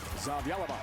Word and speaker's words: Zavjalova: Zavjalova.